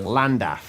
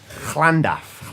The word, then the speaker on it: Llandaff: Llandaff. Almost, not bad, but Llandaff. there, that's much better.